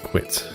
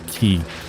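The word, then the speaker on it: Qi: Oh, is it qui or key? Uh I watched a video with concerned ape and he pronounces it qui. So that's what I've decided because I could never decide myself. But that is why I pronounce it qui is because that's what he said.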